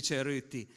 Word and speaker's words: Cerutti: Il titolo è bisogna pronunciarlo proprio alla piemontese perché abbia senso sueruti.